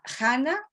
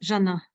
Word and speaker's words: Jana: A ver, tenemos a Hanna o Jana, por favor. Hi, thank you. Yes, Jana.